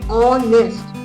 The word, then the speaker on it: honest: So H becomes silent. The pronunciation starts with O. So the pronunciation it gets is honest.